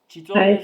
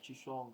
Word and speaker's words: Chisonga: Chitonga is your surname. Shishonga. Oh, Chisonga. Chisonga. Are you vendor?